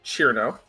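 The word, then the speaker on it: Cirno: uh despite how her name is spelled it's pronounced chiro she is a fairy a fairy yeah she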